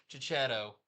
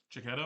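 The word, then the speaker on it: Checchetto: Jonathan Hickman and Marco Cicchetto. How do you say his name? Cicchetto, I think. Cicchetto. Or it may be Cicchetto, but I say Cicchetto.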